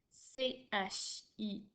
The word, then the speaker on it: chienne: Attention, dans chienne, j'entends un E, mais il n'y a pas d'accent sur le E. C'est parce que j'ai des lettres jumelles que mon E fait E.